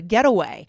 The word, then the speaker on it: getaway: this noun, it's written as one word, and we really say it all as one word with no break in the middle.